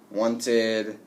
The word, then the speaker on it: wanted: So if we have a T or D, then we have to add the id sound, okay? Short I and D together, and it makes a new syllable at the end. Wanted, hated, started, okay?